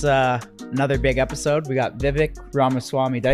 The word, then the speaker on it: Vivek: We got Vivek Ramaswamy. Did I say that correctly? Pronounced correctly? Pretty close. Vivek, like cake. Vivek cake, like okay. Like yeah, cake.